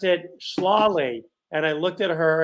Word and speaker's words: Schlafly: funny she pronounced it slawley and i looked at her and i looked at the pronunciation and i thought you mean like the word slaughter and she said yeah